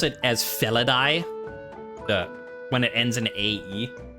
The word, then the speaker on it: Felidae: but as a shorthand, the way we in modern times pronounce it, we pronounce AE like I.